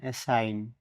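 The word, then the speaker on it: assign: এখন উদাহরণস্বরূপ ভিডিওর মাধ্যমে প্র্যাক্টিক্যাল আমরা দেখব এ double S আই জি এন এ সাইন দায়িত্ব অপন্ন করা এইখানে জি লেটার ডি সাইলেন্ট থাকবে কারণ জি এর পরে এন আছে বিই এন আই জি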